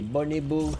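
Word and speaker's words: Boneboo: Les bonibos. C'est comme ça que ça se prononce en vrai.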